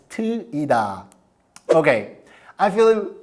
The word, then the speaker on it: Teuida: name of our app you have no idea how many people mispronounce our app they call it TOA TOA TOA but now you know it's TOA okay I feel like